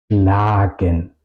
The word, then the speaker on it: schlagen: Si la vocal está al final de una sílaba, suena larga en alemán. ¿Ok? Schlagen.